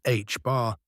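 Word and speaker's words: ħ: The second constant H bar, pronounced H bar, reflects the strength of quantum effects.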